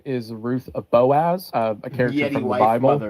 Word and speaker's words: Boaz: his wife is also Boaz's wife. Uh, he also doesn't pronounce it Boaz. He pronounces it Booze. So, Ruth of Booze.